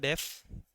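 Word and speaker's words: deaf: एक शब्द हमारे पास डेफनिंग लिखा गया, एक शब्द होता है डेफ, एक शब्द होता है डेफन। आप इस शब्द को डीफ नहीं कहेंगे, ये शब्द डेफ बोला जाता है, इसको प्रोनाउंसिएशन में आप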